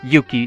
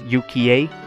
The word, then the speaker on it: Yuki: even so Yuki Yuki someone in the comments told me was pronouncing Yuki two syllables is wrong because in Japanese they pronounce every vowel kind of thing by the same Orly so it's Uka I I think even